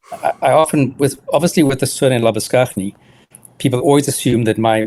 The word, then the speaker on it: Labuschagne: you were going to Well, it's interesting because I often, with the surname Labuschagne, people always assume that